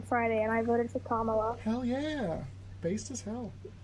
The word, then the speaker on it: Kamala: I thought it was Kamala, but I got corrected, so I learned.